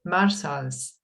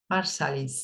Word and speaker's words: Marsalis: john coltrane and winston marshalls marsalis marsalis yes names what surprise harry